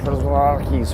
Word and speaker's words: Przewalski's: Well, that's easy to read because that is the Prozlarki's horse. That's actually how you say it in the native tongue.